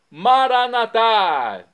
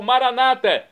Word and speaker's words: Maranata: agora eu clamo do aramaico maranat como dizemos nós católicos ou Maranata como dizem nossos irmãos separados os evangélicos ou protestantes não importa a pronúncia